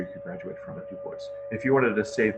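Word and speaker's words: DuBois: But let's just say they had biology as a major you could graduate from at Du Bois.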